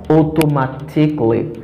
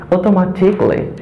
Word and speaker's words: automatically: to my channel okay the first word is pronouncing as automatically because the letter a is selling automatically automatically so all the music uh will be played